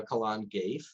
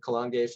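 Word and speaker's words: Calan Gaeaf: in that area alrighty here's another pronunciation i'm definitely gonna butcher um so we're going to talk about uh colon gaif as the pronunciation we'll give and i just realized i misspelled that right there excuse me for that um um how it's spelled out another pagan festival um which is called kalangef is very much like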